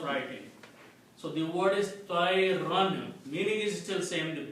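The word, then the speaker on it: طَيْرًا: You don't pronounce, you just write it. That's the rule of writing. So the word is tayran.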